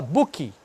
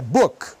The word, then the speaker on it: book: O cara vai lá e fala book. Não tem I, é book.